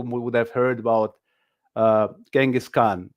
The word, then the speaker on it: Genghis Khan: have heard about uh genghis khan or as we pronounced chingashan you know the great